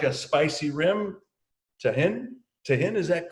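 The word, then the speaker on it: Tajín: If you like a spicy rim, tahin, is that correct? Is that the way you pronounce it? Yeah. Tajin.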